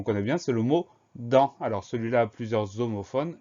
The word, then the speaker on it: dent: Donc le son en, C-E-N, on a une lettre muette à la fin, qu'on va retrouver dans dentition ou dans dentaire.